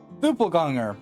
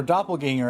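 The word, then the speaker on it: Doppelgänger: never play this franchise duple ganger or doppelganger as it's commonly pronounced now type of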